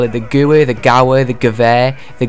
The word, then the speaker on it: Gewehr: I believe it is Gewehr, but I think a lot of people just call it the Gauer or something like that.